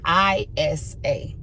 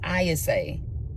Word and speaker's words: Ayase: Because it's not spelled ISA. It's spelled AYASE. But when the little boy on the show be saying her name, it sounds like he's saying ISA.